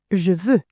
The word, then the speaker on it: je veux: Je veux.